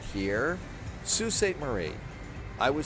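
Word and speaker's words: Sault Ste. Marie: Saul St. Marie or Sue St. Marie. I was doing it different. I was saying it's Saul. I think it's Sue St. Marie. So, I was saying it wrong.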